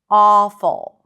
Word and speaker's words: awful: Awful. And like I said, you can even relax your lips and pronounce it more like an open ah sound.